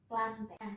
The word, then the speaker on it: Plantae: enggak jadi satu bisnya itu plantae tapi cara bacanya itu planet ini untuk mempersingkat waktu